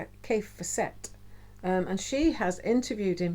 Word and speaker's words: Fassett: this is kef kef facet um Kate at Kate at the last homely house she pronounces it facet Kate k for set and she has interviewed